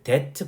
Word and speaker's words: debt: 여기서 그 debt 발음은 B가 안 나와요. 묵음입니다.